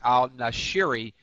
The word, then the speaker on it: al-Nashiri: and al-Nashiri, I wanted to make sure I pronounced his name right. It's al-Nashiri, Cassandra, is that the crimes, the location of the crimes.